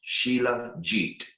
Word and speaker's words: shilajit: who had shilajit have you ever heard of sheila jeet no it's spelled s-h-i-l-a-j-i-t and it's pronounced sheila jeet shilajit and it's a resin that comes out